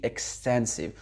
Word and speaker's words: extensive: Et vous voyez bien que le mot extensive, c'est un nom, il est composé de 3 syllabes, et lorsqu'on a un nom composé de 3 syllabes, on met ce fameux accent tonique au milieu.